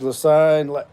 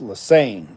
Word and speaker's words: Lasine: James Lasine, LMAO, yeah, man, it's all good though. Also, my last name's pronounced Lasane.